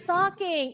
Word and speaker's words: talking: Who is talking in the kitchen? Banu, pamannya. Banu is Talking in the kitchen. yes, don't forget the L is silent.